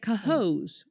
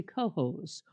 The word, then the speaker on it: Cohoes: April 5th, we'll be at Cohoes. Or do you say Cohoes?